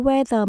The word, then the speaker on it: weather: lạnh the cool weather khi đọc chữ weather Mình lưu ý chữ TS ở chính giữa mình để lưỡi ở giữa hai răng weather weather the decorations